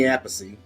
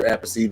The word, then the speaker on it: Appice: There's Vinny Appice and then the other Appice, but he calls his Carmine. Vinny and Carmine, they're brothers, but one pronounces his name Appice, one pronounces his name Appice.